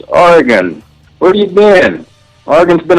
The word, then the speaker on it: Oregon: I'm calling from Oregon can you please pronounce orgon right it's not Aron it's orgon where you been orgon's